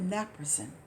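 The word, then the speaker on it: naproxen: as a matter of fact and she prescribed Naproxin some people call it napasin and it's spelled n a p o x n I'll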